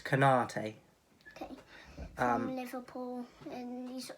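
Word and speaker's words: Konaté: number eight and number seven how do you pronounce his name so it's kanate okay um liverpool and he's always just down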